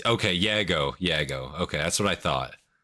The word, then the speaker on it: Jago: Like how do you pronounce it? You know? Yeah, it's okay. Yago.